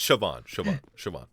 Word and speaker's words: Siobhan: It's Siobhan. Distancing Pronunciation.